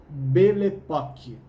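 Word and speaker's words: belle époque: era chamada belle epoque falando junto o francês e se pronuncia belepok repete beletatti é essa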